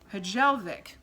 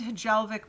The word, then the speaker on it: Hjelvik: I think that the way that you say this one is Hjelvik.